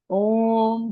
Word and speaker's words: ओम: ओम का उच्चारण अ, उ और म से हम करते हैं। अ की ध्वनि हम अपने नाभि के पास से उ की ध्वनि हम अपने हृदय और अपने कण से और म की ध्वनि हम अपना मुंह लिप्स बंद करके और अपने उसके कंपन को महसूस करने की कोशिश।